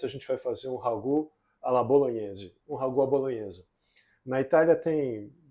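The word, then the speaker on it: ragoût: caracteriza o Ragu a palavra francesa vem de ragu e se escreve r a g o u t né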